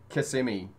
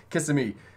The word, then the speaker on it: Kissimmee: gotta say that right you can't say kissimmee it's kissing me i still didn't say